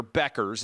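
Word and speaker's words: Bueckers: But she's an attractive 6-foot women's basketball player, white girl, and nowhere near, Beckers is how you pronounce her name, nowhere near the draw that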